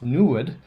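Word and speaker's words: NEID: why instruments such as newed which is noir lab's new planet hunter installed on the 3.5 meter telescope are needed pronounced new wood it is named after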